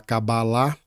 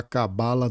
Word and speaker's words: Cabala: Porque as pessoas dizem que o correto é falar cabalá, embora a pronúncia não nos interessa, porque o que tá em jogo aqui é entender todo o mapa cabalístico. E de outra perspectiva também, o estudo ele é voltado à Cabala do Ocidente. Então, como característica disso, dizemos cabala e a pronúncia seguindo da forma que desejarmos.